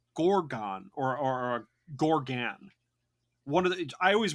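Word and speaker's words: Gargon: is called a gorgon or or or a Gorgan one of the I always wrote it down as Gorgon okay but it's I think they pronounce it Gorgan it's a Gorgan and the entire reason why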